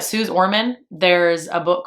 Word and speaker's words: Suze Orman: I think it's Suze, not Susie, but Suze Orman.